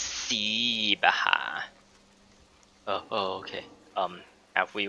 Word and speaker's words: Sibaha: hey you let me out of here cyber it's si baja excuse me it's pronounced see baha oh okay um have we met so it's